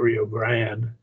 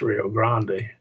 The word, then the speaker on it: Rio Grande: Here is your Rio Grande, we call it the Rio Grande. I think maybe it's frequently pronounced Rio Grande.